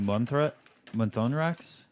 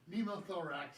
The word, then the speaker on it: pneumothorax: It's the new Monthonrax kit. What's Noonmon? I can't pronounce.